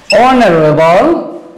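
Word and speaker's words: honourable: এই এইচ এর উচ্চারণ যদি অনুচ্চারিত থাকে, অর্থাৎ কি এইচ এর উচ্চারণ যদি সাইলেন্ট থাকে, উচ্চারিত না হয়, আমি শব্দ লিখছি, খেয়াল করো। যেমন আওয়ার, অনার, তারপর কি অনারেবল, ইয়ার।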